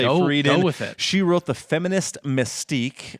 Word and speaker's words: Friedan: the 1960s uh uh Betty freden that's how I'm going to pronounce it at least your Friedan freden we'll say freeden she wrote the feminist